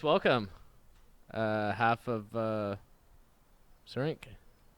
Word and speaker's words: Syrinx: It's an X at the end, so it's a syrinx.